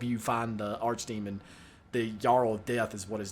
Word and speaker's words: Earl: The Jarl of Death is what his name is. Well, it's spelled E-A-R-L, which is like Earl, but the real way you're supposed to say that is like Jarl, essentially.